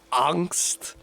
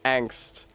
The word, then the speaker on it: angst: This is uh my mother who pronounces the word angst as angst with with a little stink on it like that. Like she like she's code switching to German. Then me and my sister said, "Mom, I think that in English that's pronounced angst."